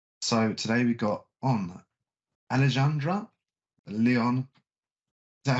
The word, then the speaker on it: Alejandra: today we got on Alejandra Leon is that how we pronounce the name um almost there it's aleandra it's a Spanish but you can call